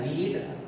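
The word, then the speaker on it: read: Poems are लिखेंगे रीड, और जब थर्ड फॉर्म की तरह से इसको यूज करते हैं तो इसका प्रोनाउंसिएशन बदल जाता है, रीड को रेड पढ़ते हैं।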